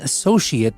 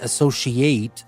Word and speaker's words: associate: And pay attention here, I'm saying associate because it's a noun. I'm not saying associate, which is a verb.